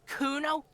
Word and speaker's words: Kuno: It's Kuno. Say it right. Said you're pretty lame or name. Nowhere near Kuno. The thought crosses your mind and then it's gone.